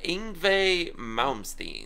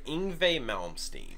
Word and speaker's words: Yngwie Malmsteen: All I'm gonna say is, please pronounce this guy's name for me. Yngwie Malmsteen. Okay, Yngwie Malmsteen.